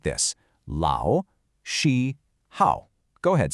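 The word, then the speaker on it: 老师好: So let's map out the tonal melody of Lao Shi Hao. Lao is a third tone, that's a dip and a rise.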